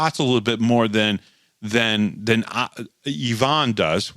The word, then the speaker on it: Yvonne: How do you pronounce Ivan's name? Yvonne's name. And he literally said, it's Yvonne.